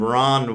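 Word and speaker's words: Rahn: said I realized that after I said it phonetically. I met a guy named Ron once who spelled his name R a HN, which I thought was just the coolest thing. Technically, it's still Ron, but not the way I spell Ron.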